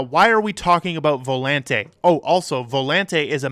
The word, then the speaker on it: Volante: this is Volante and yes it is it is pronounced Volante you will see that it is pronounced that way in a video we're